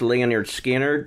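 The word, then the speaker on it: Lynyrd Skynyrd: ago you said uh the album called It's pronounced Leonard skinnard yeah yeah so here I have the picture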